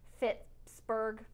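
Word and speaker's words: Fitchburg: city it was, because it seems like it should be like Pittsburgh, but it's actually like Fitzburg.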